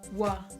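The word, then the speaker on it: は: If you've already learned hiragana, then you'll notice that the wa is actually spelt with a hiragana character for ha, but in this case it actually reads as wa.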